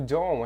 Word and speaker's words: don't: the the house don't olha lá o don't a gente não vai pronunciar o t don't ok a gente